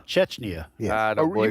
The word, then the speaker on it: Chechnya: How do you pronounce it? Chechnya. Chechnya.